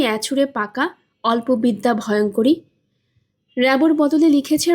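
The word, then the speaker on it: Rimbaud: র্যাবোর বদলে লিখেছে র্যাম্বো।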